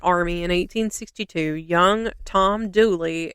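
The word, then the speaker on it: Dula: in 1862 young Tom douly it's spelled D L A like his real name but it's pronounced like d o o l e y and that's how you'll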